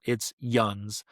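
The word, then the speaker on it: yinz: And the word is yuns, spelled y, i n z, spelled yins, pronounced yuns, literal translation, y'all. That's the Pittsburgh word for y'all. It's yuns.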